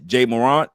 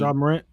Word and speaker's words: Ja Morant: Now, if it's something negative, like in Jay Morant, I think that's how you say his name. Ja Morant.